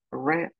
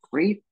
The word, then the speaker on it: read: read que es leer en pasado se lee re presente read pasado re Okay y les digo